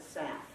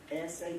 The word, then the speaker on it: SAP: that is sap and remember that's how you pronounce it too don't ever call it south because that marks you as not being very smart if you talk like that around people who use it sap it takes longer to say so get that